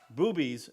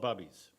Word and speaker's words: Bubbies: And correctly pronounced, boobies, slang for boobala or grandma, because it's grandma sauerkraut, though west of the Mississippi, it's called bubbies.